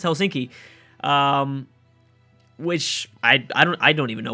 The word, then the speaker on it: Helsinki: Yes, I think I learned the pronunciation of that. I believe it's Helsinki.